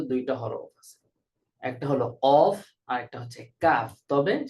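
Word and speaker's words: ق: হরফ আছে, একটা হলো কফ আর একটা হচ্ছে কাফ। তবে সেখানে সামান্য পার্থক্য আছে। কফ একেবারে গোড়া থেকে, আর কাফটা একটু সামনে, অগ্রভাগ থেকে, গোড়ার একটু আগ থেকে কাফ উচ্চারিত হয়।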